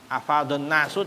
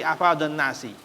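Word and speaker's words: أَفَاضَ النَّاسِ: Bacanya kasrh. Bukan afadon nasu tapi afadon nasi.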